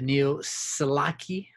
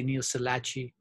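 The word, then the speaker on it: Neoselachii: i mispronounced these again ch it should be a k the neo salaki sometimes i say neo salachi yusalaki usalachi but um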